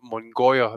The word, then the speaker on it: Munguia: Now, the problem is Munguia is actually hyphenated, and it's Mongoya.